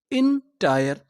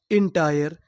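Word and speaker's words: entire: मैं आपको बता दूं कि जो हमारा आई आर ई होता है अगर आखिरी में आई आर ई लिखा हो तो उसे पढ़ते हैं आयर। क्या पढ़ते हैं? आयर। तो पूरी मीनिंग क्या बनी? इंटायर।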